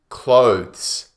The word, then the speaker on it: clothes: Many people say clothes, clothes. But actually, this word has 1 syllable, just 1 beat. Clothes. The difficult part is the TH followed by the S. Clothes. So you stick the tongue between the teeth for the TH.